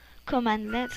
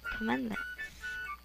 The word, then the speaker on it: cmdlets: Windows PowerShell uses CMDlets, which are commandlets in pronunciation. Don't forget that, commandlets.